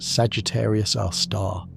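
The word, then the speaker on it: Sagittarius A*: Our own Milky Way harbors one, Sagittarius, a star, pronounced Sagittarius our star, a black hole with about 4 million times the Sun's mass, located roughly 26,000 light-years from Earth.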